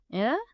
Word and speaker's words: Ye: It's spelled Ye in English for some unknown reason, but it's Ye like the leaf Ye.